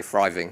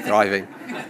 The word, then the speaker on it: thriving: Because I'm from Essex, I pronounce it with an F, so I say thriving, but you're supposed to say thriving, which is it's always good to get great reviews like that, isn't it?